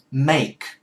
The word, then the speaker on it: make: Bạn có thể phát âm được A, thì bắt phát âm cho nó chuẩn đi. Make, rồi đừng có phát âm nó vô trở thành một âm, nó là hai âm. Phát âm cho nó chuẩn thì nó sẽ ra đúng tiếng.